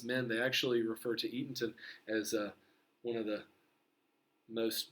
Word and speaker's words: Eatonton: Edenton, but it's Eatonton.